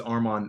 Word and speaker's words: Armon: My name is Arman. Uh, you pronounce my name like my arm is on.